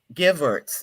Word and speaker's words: Gevertz: Roberta Lee, Tyler Bryant, Rachel Maxan, and Grace Gevertz. Did I pronounce her name correctly? Yes, Grace Gevertz.